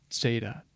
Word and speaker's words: Zeta: Zeta is right here and it has a slight um technically a slight like a a dental sound at the beginning like TT Zeta Zeta so there's a little bit more of a pop there than just a simple z z it's more of a Zeta Zeta Ada here is going